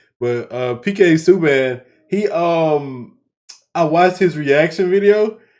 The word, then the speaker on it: Subban: Cause I guess he's saying Subban, so we're gonna pronounce it Subban, but PK Subban, I watched his reaction video.